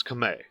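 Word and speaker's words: Khmer: Uh, but you don't drop you don't pronounce the R. It's Kame.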